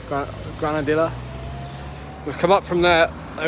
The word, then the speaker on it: Granadilla: we are I think granader that's where we've come from am I saying that right Grana you don't pronounce the Double L granadilla granadilla with up from there